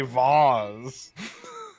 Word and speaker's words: vase: vase rhymes with case vase rhymes with days vase and vaz rhymes